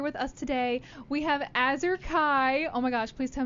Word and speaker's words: Azure Kai: special guest here with us today we have azer Kai oh my gosh please tell me I got it right did I pronounce it right you got it right yes